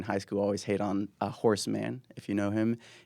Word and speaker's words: Horace: And some You're saying not horse? well known. Horace. Horace no, Mann. I was hearing Horace.